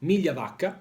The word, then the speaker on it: Migliavacca: It's an Italian last name, so I may say, I will pronounce it Migliavacca. That's better.